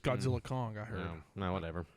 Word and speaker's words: Godzilla x Kong: don't know or it's godzill x is silent apparently it's just Godzilla Kong I heard whatever it's